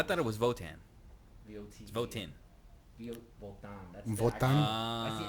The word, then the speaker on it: Votan: Spell that. VOTAN. Yeah. Votan. Yeah. I thought it was Votan. VOT. It's Votan.